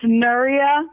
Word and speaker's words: Nuria: It's Nuria. There's no like ia. Like no diarrhea.